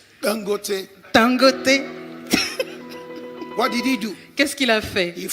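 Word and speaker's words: Dangote: OK, vous le connaissez la bonne prononciation. Tangoté.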